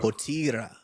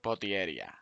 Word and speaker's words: Potieria: Potier.